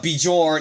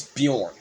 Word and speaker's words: Bjorn: Yes, his name is not uh BJ uh Bejorn, it's Bjorn. Um the J is like a uh it's silent. The J is silent. It's not J, it's Bjorn.